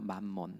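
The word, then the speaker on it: 맘몬: 근데 성경에서 우리가 이제 재물이라고 읽었지만이 재물을 이제 원어 이제 원어를 보면은 만몬이라고 우리가 이제 볼 수 있는데 그렇게 발음을 하고 그렇게 용어를 써요. 만몬 만몬이란 말 들어보셨죠?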